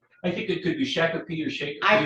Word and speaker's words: Shakopee: You pronounce it Shakopee. I think it could be Shakopee or Shakopee.